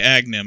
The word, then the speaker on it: Agahnim: You end up fighting, his name is, I believe, Agahnim? Agablablab? Yeah, Agahnim. Okay, Agahnim. I was putting way too many syllables.